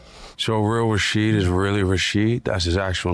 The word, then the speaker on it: Rashid: So real Rashid is really Rashid? That's his actual name? I emphasize the first syllable, Rashid.